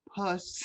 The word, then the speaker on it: pus: The correct pronunciation is pus.